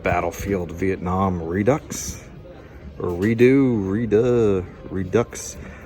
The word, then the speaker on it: Redux: Or Redux. I pronounce the X. It has an X in it, so I'm gonna pronounce it.